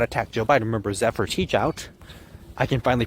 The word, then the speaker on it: Zephyr Teachout: Bernie Sanders would not attack Joe Biden remember Zephyr teach out I can finally pronounce her name right but yeah Zephyr teachout